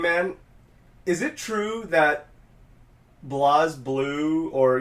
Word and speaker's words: BlazBlue: it's supposed to be pronounced BlazBlue, right, technically? In Japan, it's Breiblue.